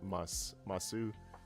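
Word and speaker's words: ます: But like if you're being formal, you usually add masu, but it's typically pronounced once again with the mas thing. Like the u doesn't seem like it's very pronounced in Japanese at all.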